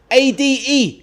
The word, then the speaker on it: Ade: A-D-E. Nice and easy to remember. A-D-E, pronounced Ade. It's a Nigerian name, and that is me.